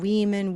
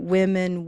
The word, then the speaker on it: women: So we don't want to practice saying weeman, weasel, ring, initial. We want women, whistle, ring, initial.